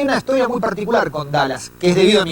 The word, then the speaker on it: Dulles: Dallas, la pronunciación es como Dallas, como el estado, perdón, la ciudad. La ciudad norteamericana, Texas, Dallas. Pero en realidad se escribe Dulles. Entonces, cuando yo empecé a investigar esto, me confundía. Dulles, ¿cómo se pronuncia? Se pronuncia como Dallas.